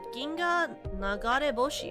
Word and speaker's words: Ginga Nagareboshi: It's called Ginga Nagareboshi. Oh my god, I said it right!